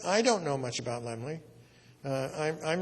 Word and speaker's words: Laemmle: i'll see what i can find out about Lemley well lemley pronounced laemmle is a group of a family-run